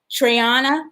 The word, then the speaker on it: Triana: It was 2018 when Chef Velvet Jacobs and her wife, Triana, am I pronouncing that correct? That's right. And Tree for short.